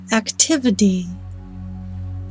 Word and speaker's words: activity: a lower pitch therefore this syllable is pronounced beginning with the d sound activity activity d activity